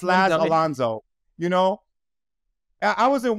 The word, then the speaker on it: Laz Alonso: It's funny because like the teacher will be trying to pronounce my name and the students will correct them like Laz Alonso.